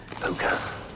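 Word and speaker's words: Púca: The cursed pukah. What would that is how it's pronounced.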